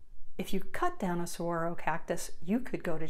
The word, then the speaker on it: Saguaro: how do you pronounce that cactus so that's pronounced Saguaro did you know that it can take up